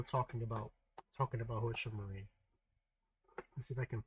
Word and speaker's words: Marine: I always pronounced her name back then as Marinette because you know it was Japanese so like you pronounce all the syllables but her name is actually marine that's how they have it when you see